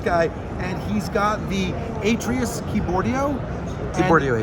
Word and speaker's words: Atreus: and he's got the Atreus Keyboardio. Keyboardio Atreus, yep. I'm gonna say it right, I'm gonna say it better, it's the Keyboardio Adrius.